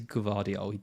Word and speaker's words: Gvardiol: It is Gvardiol. You do pronounce the G.